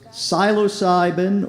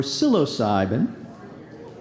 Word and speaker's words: psilocybin: on our next word could have two different pronunciations psilocybin or psilocybin a Hallucigenia otherwise known as magic mushrooms how